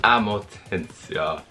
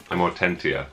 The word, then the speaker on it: Amortentia: Amortentia. Amortentia. You pronounce all the T's. Mm-hmm. Well, that just doesn't sound as good. Amortentia.